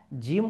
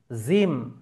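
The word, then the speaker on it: جيم: পড়তে হবে জিমকে এবং জিম উচ্চারণের ক্ষেত্রে আমাকে সবসময় একটা জিনিস মাথায় রাখতে হবে যে এই যে আমার জিহব্বা জিহ্বা এই জিহব্বাকে আমাকে যে মাঝের অংশ জিহব্বার মাঝের অংশ উপরের তালুতে লাগিয়ে আমার কিন্তু জিম সঠিকভাবে উচ্চারণ হবে। কেউ যদি বলে জিম জিম জিম তাহলে ওটা ভুল উচ্চারণ। আপনারা অডিওটা ভালোভাবে শুনুন। জিম যদি বলা হয় জিম তাহলে ভুল উচ্চারণ।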